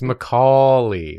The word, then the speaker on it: Macaulay: - It's Macaulay like cauliflower.